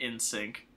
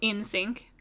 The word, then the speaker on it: NSYNC: Tera not my heart I know it says N Sync but it's pronounced in sync so in sync yeah Oh I thought